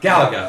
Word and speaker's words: Galaga: Galaga.